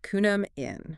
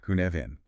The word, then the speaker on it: Cynefin: And we're going to do that by diving deep into the cinnaphen framework which is pronounced and let's get this right up front. Kunam in Kunev in it's at its heart